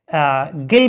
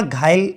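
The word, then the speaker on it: ghyll: ठीक है, गिल पढ़ लो या घायल, इसको पढ़ सकते हो, जो भी तुम्हें अच्छा लगे प्रोनाउंसिएशन वो अपने हिसाब से कर लीजिएगा। मैं इसे गिल पढ़ता हूं, या घायल भी, GHYL घायल।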